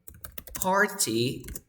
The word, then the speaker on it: party: When you have RT and the vowel sound, when you have RT vowel sound, you never pronounce the T. Nunca pronuncias la T. Por lo tanto, party would be pronounced, can you say it?